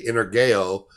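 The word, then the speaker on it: energeia: word is not dunamis it's actually inner geo which sounds like the word energy because that's where the english word comes from or the inner gale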